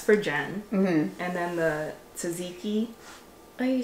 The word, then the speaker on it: tzatziki: the salmon s for Jen and then the Tzatziki oh you said it right oh I did